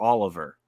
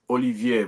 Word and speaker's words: Olivier: It's Olivier, but you know, a lot of people who don't have the tongue to pronounce the name, they try to say it the English way.